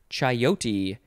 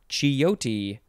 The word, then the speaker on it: chayote: a very nice term next is chayote or chiyoti or chiyote you can really just change the vowels however you want it is spelled c-h-a-y